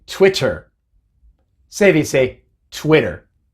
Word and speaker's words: Twitter: común en nuestros días twitter fuera no se dice twitter se dice twitter y